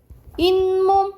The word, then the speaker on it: 잇몸: 또는 우리가 치아를 보호해주는 게 이거는 발음이 잇몸 이렇게 발음 나요. 그쵸? 잇몸 그러면 니은이 덧나요. 니은이 더 들어가.